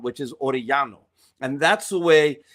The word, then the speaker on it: Orellano: So when it comes to Orellano, there's areas in Argentina where they very heavily accent some of the double L's. And so it would be Orellano, right? That's the way that he would pronounce it, maybe. And I haven't even heard him say it. But I have heard other Argentinians say that name or a double L in that aspect. So they would say Orellano, okay?